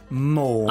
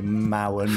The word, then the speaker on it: Mourne: How are you saying that? Mourne. Okay, great. He gave us a nice little pronunciation guide, so don't worry, I'm not going to say Mowen or Morphin.